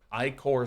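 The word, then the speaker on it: Ichor: of fill things out I core synthesizer I know it's pronounced icker but I like icor i-cores and eyesore for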